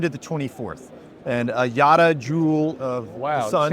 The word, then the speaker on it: Yotta: of your company, because I don't want to pronounce it wrong. Do you want to guess? Yeah, no, the company's name is Yotta Energy.